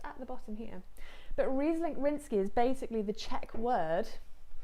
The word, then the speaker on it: Ryzlink rýnský: going to break down and basically this wine reese link rinsky as you see on the bottom you can see it just at the bottom here but reese link rinsky is basically the czech word for ryan riesling